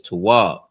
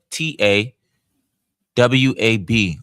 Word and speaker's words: Tawab: We know good is Tawab. T and Wab. The TA, the T, and then the WA, W, and the BA, B. But the WA, the W, and the B are together, are connected. So it's Wab. So it's T, Wab. T, T-A, W-A-B, Wab. Tawab.